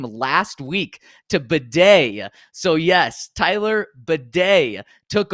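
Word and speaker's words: Badie: that's not his name he changed the pronun pronunciation of his name last week to Beday so yes Tyler Beday took over for the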